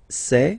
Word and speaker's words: sait: Il sait. Final T not pronounced.